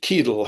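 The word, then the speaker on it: Ceadel: Eric Keedell had occasion to write as follows. That's Kedle spelled C E A D E L. But the C is a hard C.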